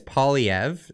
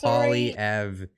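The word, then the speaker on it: Poilievre: is real he said that he contacted Pierre poliver and CeCe Trudeau you keep saying so it's polyev I I I had to do it because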